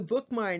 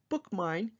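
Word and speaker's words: Bookmyne: an app for that it's called bookmine and it's spelled a little differently it's b-o-o-k-m-y-n-e and that will give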